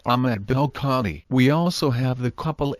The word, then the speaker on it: ben el-Kadhi: Thus Ahmed or el-Kadhi is a partly Berber form, the Arabic form being Ahmed ibn el-Kadhi or Ahmed ben el-Kadhi, pronounced Ahmed bel-Kadhi.